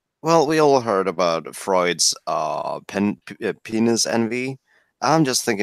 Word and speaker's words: Freud: So by the way, for all the English speakers on in chat, it's pronounced Freud, not Freud.